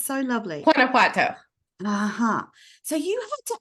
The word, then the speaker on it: Guanajuato: The name of the state is Guanajuato.